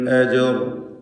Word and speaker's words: أجر: അലൈഹി മിൻ അജർ, മിൻ ഇതിലുള്ള സക്കിനത്തെ നൂനിന് ഇൽഹാർ ഹൽക്കി നൽകി മണിക്കാതെ വെളിവാക്കേണ്ടതാണ്. അജർ എന്നതിൽ ജീമിൻ്റെ സുക്കൂൻ ഖൽഖല സുഗ്റ നൽകി ശബ്ദം ഹറക്കത്ത് പോലെ വ്യക്തമാക്കേണ്ടതാണ്.